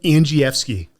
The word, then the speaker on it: Andrzejewski: the Men's Journal everyday Warrior I've got Adam Ang fi now I look at your name that's not how I would pronounce that I was I was given that